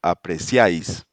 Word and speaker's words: apreciáis: We have e a e pronounced like the e in yikes. Yikes. Yes. So we have apreciáis.